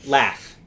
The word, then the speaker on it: laugh: Or like laugh, LAUGH. The GH is silent, so Well, no, why? it sounds like an F. The whole thing sounds like an F.